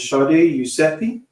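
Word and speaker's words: Shadi Yousefi: Um this is how to pronounce her name is Shardi Eusei.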